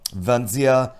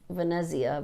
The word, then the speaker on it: Venezia: last year the um Venia frenzy and what was the other I can't think of the other third ship and yes I'm not sure he's pronouncing that right but I think it's Venezia Vania yeah the Italian